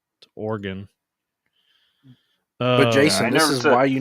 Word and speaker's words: Oregon: Bravo says orgon yeah it's not origon whoever whoever pronounced it origon you're wrong Oregon Jason this is why